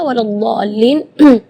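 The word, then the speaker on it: ولا الضالين: Sallallahu Alaihi Wasallam eh di kalimat ini juga waladin yang perlu diperhatikan adalah madnya juga Mad di situ kita harus panjang ee membacanya enam harakat karena di situ hukumnya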